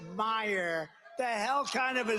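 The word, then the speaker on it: Meijer: Against one of the 10 impeachers, a guy who spells his name M-E-I-J-E-R, but they pronounce it Meyer.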